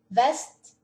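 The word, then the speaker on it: Vest: Eu só vou falar, pronunciar mais uma vez. Nur, West, Sur, Ost, Ost, Ost.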